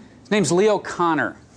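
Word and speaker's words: Kanner: not his name's leo connor name is spelled k-a-n-n-e-r but the internet assures me it's pronounced connor and he is the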